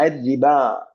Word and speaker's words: ربا: റിബ എന്ന് എഴുതുന്നത് കണ്ടാണ്. റിബ എഴുതിയിട്ട് ബന് ശേഷം വാവാണ് പ്രിന്റിലുള്ളത്. അതിന്റെ മുകളിൽ ഒരു അലിഫ് ഇട്ടിട്ടുണ്ട്. എന്റെ അർത്ഥം മുകളിലുള്ള അലിഫാണ് ഉച്ചാരണം, വാവ് എഴുത്തിൽ മാത്രമേ ഉള്ളൂ. അപ്പൊ ആ റിബ എന്നാണ് പറയുന്നത്. അതിനുശേഷം ഒരു അലിഫുണ്ട്. ആ അലിഫ് കംപ്ലീറ്റ്ലി സൈലന്റ് ആണ്.